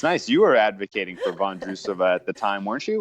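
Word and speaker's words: Vondroušová: Vondrousova. That's how you say it. Vondrousova.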